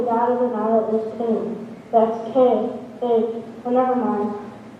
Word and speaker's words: Khnum: I am Khnum, that's K-H-N-U-M. The H is silent.